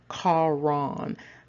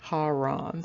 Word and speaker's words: Haran: And so his name is pronounced Charon. It also looks like Haran.